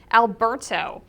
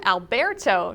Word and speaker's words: Alberto: Tropical Storm Alberto, or Tropical Storm Alberto to pronounce it properly, has formed in the southwestern Gulf of Mexico.